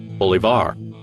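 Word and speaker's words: Bolívar: tuberculosis in Europe his name is pronounced with stress on the last symbol bulevar in the 1820s a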